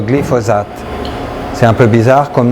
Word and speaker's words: glyphosate: Et l'ingrédient actif de l'herbicide Roundup, ça s'appelle le glyphosate. C'est pas compliqué, c'est 3 syllabes, le glyphosate.